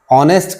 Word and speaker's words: honest: तो जैसे हमने ऑनेस्ट कहा तो उसकी स्पेलिंग होती है HONEST, लेकिन एच को हम साइलेंट कर जाते हैं और बाकी ऑनेस्ट को पढ़ते हैं।